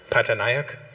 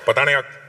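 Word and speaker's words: Pataniak: Pataniaak. Say it properly. Not Patton. Pataniac.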